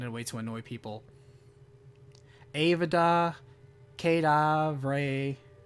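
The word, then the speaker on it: Avada Kedavra: way to annoy people Avada kedav Ray that's that's right right that's that's the bad lad and that's how you say it well now you get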